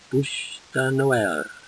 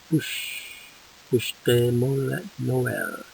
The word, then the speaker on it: Bûche de Noël: How do you pronounce this? It's in the blue. Bûche de Noël. Bûche de Noël.